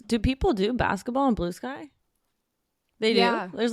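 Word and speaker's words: Bluesky: I was also pronouncing it Blue Ski. I saw that Jasmine Watkins was like, is it not Blue Ski? Blue Ski I sounds like didn't a realize- rapper. I know, but it's Blue Sky.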